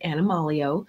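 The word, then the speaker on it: AnimalEO: And it's called Animal EO, capital EO, which stands for essential oils, or she pronounces it Animalio.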